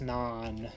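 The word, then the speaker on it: naan: it's called slaps yeah nan is spelled with two a's so it's it's non if you haven't seen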